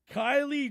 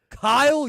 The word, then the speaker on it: Kyle: Kylie Juszczyk. How the hell did you get the first name wrong? Kyle Juszczyk. Juszczyk. You said Kylie. Not Kylie Kelsey. Kyle.